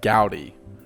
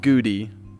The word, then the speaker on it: Gowdy: And my last name is pronounced Gowdy, not Goody, not Goody, Gowdy. Gowdy.